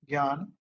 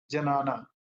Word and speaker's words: ज्ञान: जे एन ए एन और इसको pronounce ज्ञान किया जाता है और लिखा हुआ है जनाना अगर आप पढ़ेंगे तो तो आप अगर ऐसा करेंगे तो आपकी गलती दिखेगी जैसे आप में से